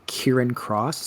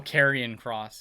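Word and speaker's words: Karrion Kross: that um is it is it kieran cross how you say it oh carrion cross yeah carrion thank you now that cross came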